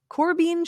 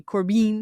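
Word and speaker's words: Korbein: unhinged corbian yeah cor it's probably pronounced Corbin yeah that's what I think it's Corbin yeah that's you know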